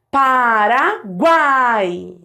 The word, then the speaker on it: Paraguai: Ó, Paraguai. Repara que o U é fraco, o A é forte e o I é fraco de novo. Porque, ó, semivogal, vogal e semivogal de novo. Paraguai.